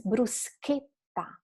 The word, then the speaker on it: bruschetta: it, you know that you can't pronounce bruschetta, right? Because there is an H and the sound has to be hard. So it's bruschetta, right?